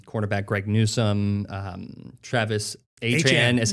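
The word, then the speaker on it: Etienne: Devin Lloyd, linebacker, um, quarterback Greg Newsome, um, Travis Adrian is how he wants to is how he says it's pronounced.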